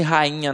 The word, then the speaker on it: rainha: Agora, quando eu falo rainha, ó, rainha, o I não tem som de I, ele tem